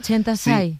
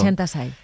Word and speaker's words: Chenta Tsai: no sabía pronunciar mi nombre yo lo he pronunciado bien chentai perfecto chentai y para ella le lo era muy difícil